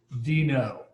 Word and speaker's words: Deno: sure how to pronounce it but the official pronunciation is considered dino so that's the official pronunciation so what is it dino is actually it's a it's a run time